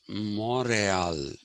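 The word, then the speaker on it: Montréal: that's the french pronunciation and montreal we say montreal the americans say montreal but actually the french pronunciation of that was morale okay uh that is the actual pronunciation of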